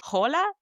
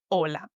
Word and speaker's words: hola: And number 3, the H, the H in Spanish is silent. Don't say again hola, say hola.